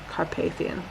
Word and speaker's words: Carpathian: it her papian pronunciation okay Carpathian if I'm English Carpathian good I was right just checking all right